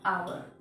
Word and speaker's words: hour: कैसे करते हैं, आवर, क्योंकि एच हमारा यहाँ पे साइलेंट होता है इसलिए हम एच को प्रोनाउंस नहीं करते, हम क्या बोलेंगे इसको, आवर, आ से स्टार्ट होता है, आवर, आवर, आवर। यहाँ पर एच साइलेंट है इसलिए हम एच का प्रोनाउंसिएशन नहीं करेंगे।